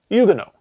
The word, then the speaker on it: Huguenot: Because and you're not going to believe this, they pronounce that word in a French way. Huguenot. Roughly.